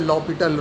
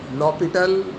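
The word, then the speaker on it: L'Hôpital: Actually, a student used to write L hospital, but HOS is silent here, so we read as L L'Hopital rule. L L'Hopital rule.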